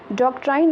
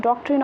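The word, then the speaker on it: doctrine: अब बताइए डॉक्ट्राइन of lapse, या कुछ लोग इसको डॉक्ट्रिन ऑफ लैप्स कहते हैं, ये तो प्रोनाउंसिएशन है।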